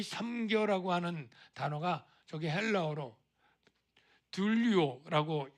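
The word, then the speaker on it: δουλεύω: 이 섬겨라고 하는 단어가 저기 헬라어로 둘리오라고 발음을 해요.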